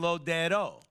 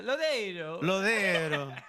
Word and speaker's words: Lodeiro: You remembered a name you've said before differently, because we were saying it wrong. We were saying Lodero. Look, which is without the I totally.